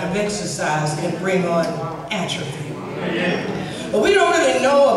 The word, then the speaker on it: atrophy: Atrophy. Is that right? Is it atrophy? Emphasis on the right syllable.